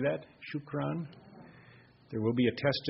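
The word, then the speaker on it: شكرا: it in Arabic excellent shukron can you say that shukron there will be a test at the end you can think of shoe Crown if you want whatever works out um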